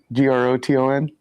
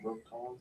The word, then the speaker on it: Groton: Do mind pronouncing that correctly? Groten. Connecticut. Gr o t o n. It's gonna he's gonna Oh, yeah. Groten. Groton.